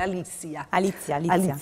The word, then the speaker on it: Alicia: Ne parliamo con Alicia, faccio sempre fatica a pronunciare il nome, Alicia.